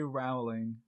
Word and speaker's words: Rowling: How do you pronounce that? It's J.K. Rowling.